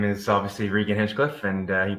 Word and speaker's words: Regan Hinchcliffe: My name is obviously Regan Hinchcliffe, and you pronounced it just fine.